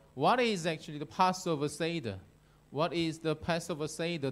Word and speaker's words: seder: Hebrew, it could be seder, like seder olam, seder. But in English pronunciation, it's a seder, seder. I don't know why, how it became seder. But anyway, in English pronunciation, it's a Passover seder.